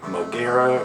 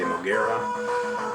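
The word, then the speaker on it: Moguera: is 4.0 and then moera or mura however you prefer to pronounce the name I say mogera life 8.0 so these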